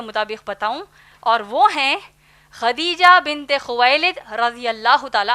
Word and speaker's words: خدیجہ: ہم عام طور پر ان کو ختیجہ کہتے ہیں، دراصل نام ہے خدیجہ جس کے ہجے ہیں